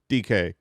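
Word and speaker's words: Dike: Also, if you're searching for DK, that is spelled D-I-K-E.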